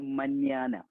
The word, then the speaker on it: mañana: അതിന്റെ ഒരു അപ്പൊ നമ്മൾ ഈ മലയാളത്തില് ന്യായം എന്ന് എഴുതൂലേ, ന്യായം, ആ ഒരു സൗണ്ടാണ് ശരിക്കും ഈ സൗണ്ടിന് കിട്ടുക. ആ ഒരു സൗണ്ടാണ് ഇതിന് കിട്ടുക. അത് ഞാനത് എഴുതിയിരിക്കുന്നു മന്യാന. ഞാനിപ്പോ എഴുതി വായിക്കുക മന്യാന എന്നാണ്.